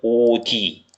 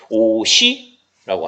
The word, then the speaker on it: 옷이: 옷 밑에 시옷이 디귿으로 바뀐 다음에 위에 것처럼 이 디귿이 동그라미가 뒤로 시작하니까 뒤로 넘어가서 선생님 이거 발음이요 이렇게 하는 거 아니에요? 오디 오디요. 오디로 발음하는 거 아닌가요? 이렇게 하면 틀린다는 얘기입니다. 이거는 그냥 넘어가는 거예요. 시옷이 그대로 연음이 됩니다.